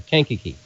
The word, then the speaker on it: Kankakee: Oh, boy, I should have asked Eric how to pronounce this ham fest. AC9BX Eric wants us to know that Kankakee Area Radio Summit Hamfest is Sunday, July 21st.